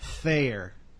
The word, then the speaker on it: Thayer: the name of Frank ther not Bayer Aspirin but fair but it rhymes with Bayer Frank there and he's written the book with mr.